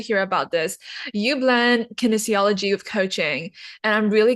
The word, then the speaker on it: kinesiology: word that I've been literally practicing all morning, kinesiology. It's like, am I pronouncing that right? Yes, Yes. Okay. kinesiology.